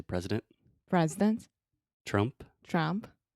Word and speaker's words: Trump: Yeah, so President Trump. President Trump. Yeah, obviously I wouldn't say president. I would say President President Trump. Trump. And Trump is another great example of schwa.